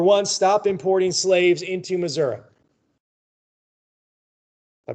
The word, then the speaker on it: Missouri: Number one, stop importing slaves into Missouri. I pronounce it that way. That's how folks in Missouri pronounce it. Unless you live in St. Louis, then it's Missouri.